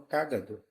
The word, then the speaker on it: cágado: escadinha é cado Caino então cágado tem a antepenúltima sílaba tônica Então ela é uma